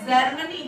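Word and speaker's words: Germany: जी ई आर एम ए एन वाई, तो जी के बाद ई आया इसलिए ये होगा जर्मनी। क्या होगा?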